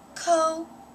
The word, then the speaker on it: coatis: These are coatis, Miss Brisbane said, reading from the letter, pronounced co-a-tes. The coatis looked weird.